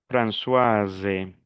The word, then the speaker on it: Françoise: Françoise hasta la S. Aquí no pronuncio la S final y aquí no pronuncio la E final.